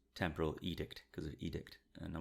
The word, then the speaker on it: edict: So when we did the preview episode for Lower Decks, I wasn't sure how to pronounce Temporal Edict, because of edict, and I wasn't sure if I was pronouncing it correctly, and you'd never heard of the word.